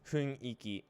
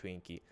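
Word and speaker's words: 雰囲気: It's huiniki, but everyone pronounces it huinki.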